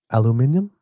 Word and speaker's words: aluminium: Alum aluminium.